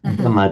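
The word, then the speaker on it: dama: So, as for example, Dhamma with a single A, not Dhamma as in the teaching. Dhamma, D-A-M-A, just means taming, whereas Dhamma from Sanskrit, Dhamya, meaning to be tamed, requiring to be tamed.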